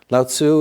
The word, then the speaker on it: Laozi: So Lao Tzu is what I grew up reading. I think now, more commonly, it's Laozi. Chinese is not the easiest language for a Westerner.